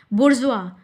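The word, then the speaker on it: bourgeois: इसका प्रोनाउंसिएशन बिल्कुल डिफरेंट है। देखिए बी ओ यू आर जी ई ओ आई एस बुर्ज means होता है पूंजीपति।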